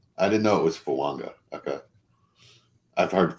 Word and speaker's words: Fuaga: where there's like a it's not a silent n it's an invisible n it's like kind of the opposite of a silent letter yeah okay yeah cool